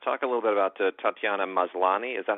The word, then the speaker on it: Tatiana Maslany: Talking about cast, talk a little bit about Tatiana Maslany. Is that how we correctly pronounce her name? It's perfect. Tatiana Maslany, probably most of you would know from Orphan